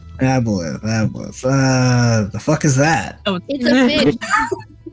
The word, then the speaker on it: aboleth: Do you have Abola? Aboleth. The fuck is that? Oh, It's a fish. It's spelled like that, by the way.